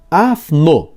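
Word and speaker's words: ἄφνω: A expressão de repente, de Atos 2 e 2, vem de um advérbio grego que se pronuncia afno e significa ação surpreendente.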